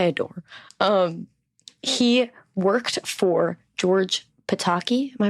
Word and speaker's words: Pataki: He worked for George Pataki. Am I pronouncing that right?